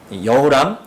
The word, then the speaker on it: 여호람: 이 아합의 아들 요람, 여호람, 이제 발음에 따라서 요람이라고 하기도 하고 여호람이라고 하기도 하는데 같은 사람입니다.